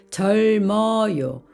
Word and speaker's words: 젊어요: 점다 따라고 읽습니다 그런데 모음을 만나면 절어요 절어요 앞에 있는 받침이 발음이 되고 미음은 다음으로 이동을 합니다 그래서 젊어요 젊어요고 읽습니다 읍다 읍다 젊다 젊다 오늘은